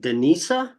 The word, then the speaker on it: Denisa: think you're the first is it Denisa is that how you pronounce it yeah you got it it's Hungarian it is